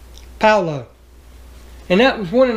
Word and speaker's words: Paolo: It's pronounced Paolo.